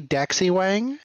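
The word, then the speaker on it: 大西王: Gonna go on with Oi Daxi Wang. Also, it's pronounced Da Xi Wang, the great king of the West.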